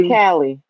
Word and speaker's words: Caley: Um, they put simply Cali up. It is simply, but Cali is spelled Caley.